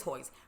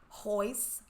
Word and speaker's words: Hoist: up hoist it is hoist but I said it rhymes with moist hoist hoist so no but